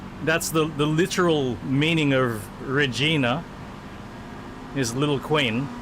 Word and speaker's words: Regina: And anytime we heard somebody pronounce it Regina, oh my word. Of course, we always knew pronounce it Regina. We knew the pronunciation. Regina. But every now and then we would hear somebody say Regina, and oh dear.